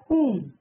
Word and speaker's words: whom: Whom W silent.